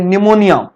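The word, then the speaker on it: pneumonia: यस, अगली bacterial disease आ रही है निमोनिया। ध्यान रखना है, नाम इसका जो लिखा जाता है वो पी से, पढ़ा जाता है एन से, क्योंकि इसमें पी साइलेंट होता है।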